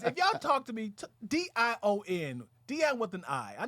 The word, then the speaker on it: Dion: did you get that it rhymes with lion i was like shout